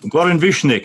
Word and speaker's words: Goran Višnjić: Goran Višnjić, am I saying it right?